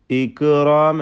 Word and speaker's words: الإكرام: വൽ ഇക്റാം, വൽ ഇക്റാം, ഇക്റാം എന്ന ശബ്ദം ചലിപ്പിക്കരുത്.